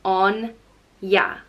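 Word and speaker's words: Áine: the goddess of summer and wealth and it's pronounced on yeah Anja and it usually has a father over the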